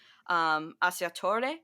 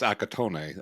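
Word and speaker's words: Accattone: after reading the plot, because I've never seen Assiatore, I think is how it's pronounced. Um, and they feel very similar. Have you seen Assiatore and everything like that? It's Akatone. Akatone, Akatone.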